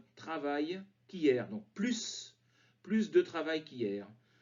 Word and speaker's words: plus: accompagné d'un mode négatif le s ne se prononcent pas rien de plus je veux juste que